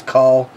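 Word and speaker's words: Kahl: So it is call, K-A-H-L, so call albino.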